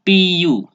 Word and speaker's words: CPU: pengucapan bahasa Inggris yaitu C dibaca sih Teh dibaca Pi dan UU dibaca you jadinya Si CPU bagus terus yang ketiga